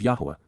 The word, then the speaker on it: Yahowah: teachings and guidance of YAHOWAH, YAHOWAH, the proper pronunciation of the name of Eloah, God as directed in